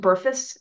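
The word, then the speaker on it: BRFSS: risk factor surveillance system um uh that is pronounced burus if you if you hear that it's pronounced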